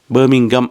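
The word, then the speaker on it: Birmingham: ஒரு மாதிரி பார்ப்பினம் நீங்க பெர்மிங்கம் பெர்மிங்கம் என்று சொல்லணும் என்று சொல்லி அந்த உச்சரிப்பு கூட சரியா இல்லையா என்று எனக்கு வடிவா தெரியல அது ஒரு மாதிரி ஹாம் இல்லை ஹம்மும் இல்லை ஒரு மாதிரி ஹம் பெர்மிங்கம் அப்படி என்று உச்சரிக்கணும் என்று சொல்லி அதோட இன்னும்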